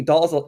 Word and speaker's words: Dhall: for oh yeah so the way you spell doll is d h a l l uh it's named